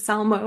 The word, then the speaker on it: Salmo: Still getting used to saying that word, but I'm very happy to have Beth Salmo here. I hope I pronounced it right. You did. Salmo.